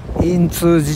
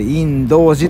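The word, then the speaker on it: 印通寺: 寺って書いてね in通知じゃなくてインドジって読むんですよ 28 年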